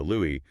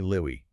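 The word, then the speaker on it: Louis: He stated on the record, quote, "My mother always called me Louie, not Louie." Wow. put a very heavy, deliberate accent on the S.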